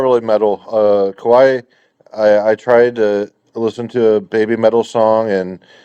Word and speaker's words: kawaii: I th- I think it's like pronounced like Hawaii, like Kawaii.